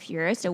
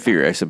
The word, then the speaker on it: Furiosa: The reason I knew about Mad Max before I'd seen like something like Furiosa was like other shows and movies, like Rick and Morty has like a whole like episode where they do the Thunderdome bit.